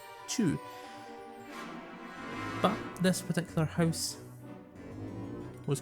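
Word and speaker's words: Chew: US who have been called Chu and it's spelled like that. C H E W Chu.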